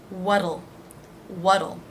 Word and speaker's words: what'll: Again, the T here will be pronounced as a D. It's flapped. What'll.